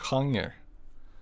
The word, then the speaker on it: genre: Yeah, we call it genre, but it's spelled in the exact same way.